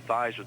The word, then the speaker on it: Theismann: think by just simply changing the pronunciation of your last name from thieman to thyman to Ryme with Heisman we can get you